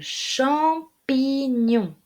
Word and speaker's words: champignon: vu l'album double m le champignon attention il ya le p on n'oublie pas le p transforme le n 1 m comme marie le champignon la châtaigne